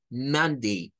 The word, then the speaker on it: Monday: las dos sílabas mondy monday recordando que esto verdad no lo emos como a no es da es mond mond y no es monde tampoco no es mon es man man porque el sonido es